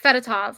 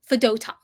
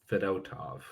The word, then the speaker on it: Fedotov: It's not Fedotov. I want everybody to get this pronunciation correct. It's Fedotov. It's Ivan Fedotov. Fedotov.